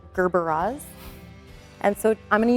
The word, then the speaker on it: gerbera: People constantly mispronounce them as Gerber. They're Gerberas.